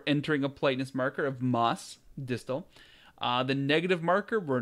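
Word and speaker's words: ます: So mas, mas. Notice the U kind of isn't being pronounced here.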